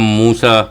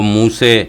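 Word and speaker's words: موسى: بگڑی ہوئی شکلیں ہیں۔ ہم موسیٰ علیہ السلام کہتے ہیں، وہ موسے کہتے ہیں۔ عربی میں موسے بھی ایک تلفظ ہے، موسے بھی ایک قرات ہے۔ یہ جس کے اوپر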